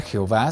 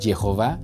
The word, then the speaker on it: Jehová: Este juego de letras, que ni siquiera se pronuncia Jehová, sino Jehová, fue un intento exitoso